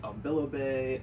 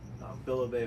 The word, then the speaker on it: Ambilobe: So they're pronounced Ambilobe. I've heard it Ambilobe or Ambilobe is like another way that I've heard it.